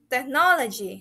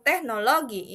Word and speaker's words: technology: And the next is technology, bukan teknologi ya. It's not technology, no. It sounds like technology. Technology. Similar to production, it has a middle emphasis on the middle syllable.